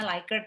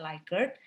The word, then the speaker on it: Likert: Oke, lalu yang skala Likert ya, bacanya Likert ya, jangan Likert ya, karena ini nama orang penemunya ya, Likert.